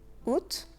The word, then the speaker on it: août: Août, on ne prononce pas le A, le mois d'août.